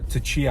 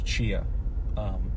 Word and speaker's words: Tchia: So that's Tachia. I don't think that's correct pronunciation. Maybe it's Chia, silent T.